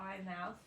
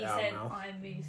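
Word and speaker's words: Eyemouth: a place called ith the English guy called that ey mouth but English guy called it IM moose sound Scottish so I'm assuming that they call it IM moose in Scotland there you go there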